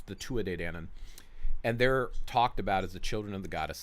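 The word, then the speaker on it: Tuatha Dé Danann: they call the Tua de Dannon some people pronounce it to author but it's the two a day Danon and they're talked about as the children of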